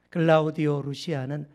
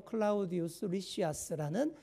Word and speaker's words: 클라우디우스 리시아스: 드디어이 천부장 이름까지 나옵니다 클라우디오 루시아는 총독 벨릭스 가카에게 무난 하나이다 그러니까이 천부장 이름이 뭐라고요 클라우디오 루시아 정확한 발음으로 클라우디우스 리시아스 그런 사람입니다 결정적인 순간 바울을 안전하게